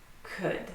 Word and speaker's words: could: Could. So all of them have a silent L. We do not pronounce the L in any of those words.